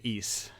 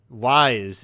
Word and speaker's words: Ys: You learn that you pronounce it Ys. Yeah, I guess I have never heard someone say it out loud. Oh yes, right. There's always the first time. Wise, if you're as I called it for a very long time.